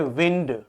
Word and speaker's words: wind: एक और ध्यान रखना, एक वर्ड होता है WIND, इसको आप जानते हो, ये होता है विंड, जो जिसको कहते हैं एयर।